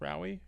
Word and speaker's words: Rowie: So, for example, when I meet new clients, I usually say, my name is Rowie. It's pronounced like Maui with an R.